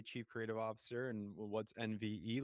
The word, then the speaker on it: NVE: at the end of October and did I pronounce the name of the agency correctly you did it's correct it's NV yes NV so I want to learn all